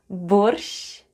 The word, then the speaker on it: борщ: And the last word for today is БОРЩ /borsh'/ The first sound is /b/, then we have /o/, /r/ and /sh'/. And all together it's БОРЩ /borsh'/, /borsh'/.